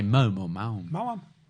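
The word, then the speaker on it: Maoam: Oh yeah, Mawam even. How would you say that? Do you say Mom or Mound? Mawam. Mawam. That's how they're pronounced.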